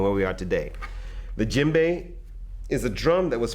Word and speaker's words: djembe: called the jimbe now the jimbe is spelled DJ e m b e this drum is a